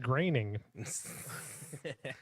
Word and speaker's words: Groening: He's Matt Groening. I don't like that name. It does not sound. I thought it was groaning. until you Yeah, said it's it. not spelled like graining, and that's how you say it, and it makes me mad.